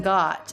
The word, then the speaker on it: got: to tell you something the letter o in got is the ah as in Father vowel the letter o in